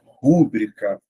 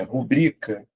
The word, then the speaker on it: rubrica: O pessoal costuma fazer o que no dia a dia? Rúbrica. Só que você vai observar que não tem acento. Ou seja, vou fazer aqui a separação, ó, e a sílaba tônica está aqui, ó, é rubrica, última, penúltima. Então, eu chamo de paroxítono.